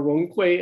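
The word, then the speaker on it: 容揆: Yung Kwai, or Rong Kui, as his name is pronounced in Mandarin, was a member of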